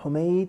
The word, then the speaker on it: Humaid: We have Hamid, we have Humaid, and we have Humayid. All of them are spelt the same way, the same letters, but the pronunciation, the nutq, is different.